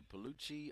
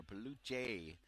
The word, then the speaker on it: Peluche Hawks: And it is pronounced either Peluche or Peluche, according to your accent, is what the coaching staff told me before the game.